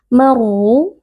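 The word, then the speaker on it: مرّوا: Maru, huruf ra di sini dibaca dengan tafkhim atau tebal karena huruf ra berharokat dhammah.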